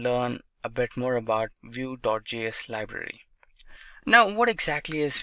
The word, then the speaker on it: Vue.js: Vue.js is commonly referred to as Vue and pronounced as Vue.js, or Vue is rightly so.